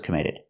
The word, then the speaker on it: committed: We hear the double T in committed pronounced as a fast D.